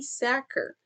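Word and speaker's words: Sachar: So, the last book for this video is Holes by Louis Sacker. And that is apparently how his last name is pronounced according to Goodreads.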